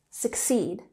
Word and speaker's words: succeed: So, succeed has emphasis on the second syllable, succeed.